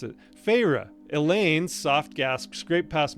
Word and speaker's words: Feyre: I did look up how to pronounce it. Feyre.